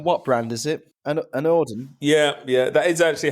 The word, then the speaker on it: anOrdain: and you're from what brand is it an an ordin yeah yeah that is actually how you say